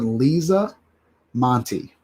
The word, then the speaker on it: Monty: We are going to remember Lisa Monty. That's how you say her name.